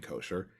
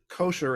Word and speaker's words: kosher: from um and so the word kosher is actually the ashkenazi pronunciation for the hebrew word kasher it should be said